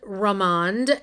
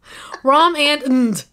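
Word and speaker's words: rom&nd: So before I looked online, Valerie and I were surmising that it was, what was it again, Valerie? Rom and. That is not right. It's Romand. And this is their, let's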